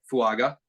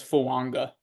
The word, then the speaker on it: Fuaga: or Polynesian or something there's like you're supposed to pronounce an N so it's fanga fanga so you know how